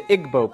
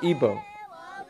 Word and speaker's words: Igbo: You have the Igbo people, or Ibo, pronounced either way.